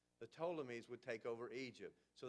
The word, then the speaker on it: Ptolemies: antagonists and then p which the P is silent it's called the ptolemies the ptolemies would take over Egypt